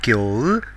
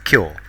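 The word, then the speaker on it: きょう: It is not kyo, but pronounced as kyo.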